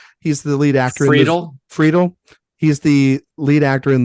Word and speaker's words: Friedel: eye on here is his name is Christian Federal, I believe is how you say his name. He's the lead actor. Friedel.